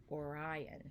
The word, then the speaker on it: Orion: Orion.